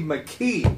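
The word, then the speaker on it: Makee: McKee. Steve. That was his name, Steve McKee.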